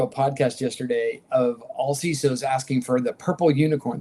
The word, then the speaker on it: CISO: I want to make sure you know there's two ways to pronounce that same word. Um to make sure that only only one way, only one right way. CISO.